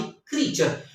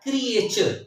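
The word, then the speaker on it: creature: ए यू आर ए क्रिएचर आईटी इस note क्रिएचर आईटी इस क्रिएचर क्रिएचर्स मखलूक को कहते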